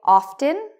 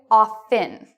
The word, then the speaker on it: often: Some people say often. That's good. Other people say often with a silent T.